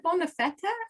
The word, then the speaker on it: bonne fête: Is it bonne fête or bonne fête? Bonne fête. It's two syllables, but actually it's more common for the French to say bon anniversaire.